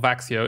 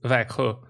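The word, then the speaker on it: Växjö: how you pronounce it it's not vaxio it's veku and there is uh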